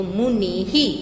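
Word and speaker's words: मुनिः: फिर देखो मुनि, उसके पीछे विसर्ग लगा है, तो उसको हम, उसका उच्चारण मुनि ही, पीछे ई की मात्रा है तो उसका उच्चारण जो है वो भी हम ही से करेंगे। यहाँ ह नहीं लगाएंगे, ही लगाएंगे। तो मुनि ही बोलेंगे ऐसे, लेकिन लिखेंगे पीछे विसर्ग लगा के।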